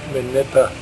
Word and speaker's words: Minipa: Heading west from Wudinna on the Eyre Highway, one comes to Minipa, that's how you say it, and to the north is the Yandinga ranges, which are quite spectacular.